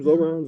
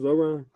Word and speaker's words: Zohran: What's how you pronounce his name? Zoran. Zoran.